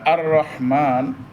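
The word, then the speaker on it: الرحمن: আর রহমানের র মোটা হবে। রটা মোটা হবে। রবো ছয়টা অবস্থা। আচ্ছা ছয় অবস্থায় র মোটা হয়। এখানে হলো একেবারে সহজ অবস্থা। র মধ্যে জবর হলে র মোটা হয়। র মধ্যে জবর হলে র মোটা হয়। এখানে জবরের অবস্থা।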